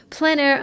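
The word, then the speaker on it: plein air: There's like a whole plan air underground. And plan air is spelled P L E I N. And then a second word is air. A I French for open air.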